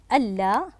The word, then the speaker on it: ألا: الكلمة الثالثة ألا. تحليل هذه الكلمة، أحسنتم، أن المصدرية زائد لا النافية، عند كتابتها تكتب بهذا الشكل، تكتب بهذا الشكل. نركز هنا، أن لا عند الكتابة تكتب ألا وتنطق بهذا الشكل.